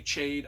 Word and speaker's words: Chade: His old master Chade, and it's spelled it's spelled Chade. I say Chade. I don't know how people pronounce that.